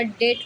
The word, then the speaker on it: debt: जैसे DEBT, ये डेप्ट नहीं बोला जाएगा, डेट पढ़ा जाएगा, डेट। इसमें बी क्या है, साइलेंट होता है।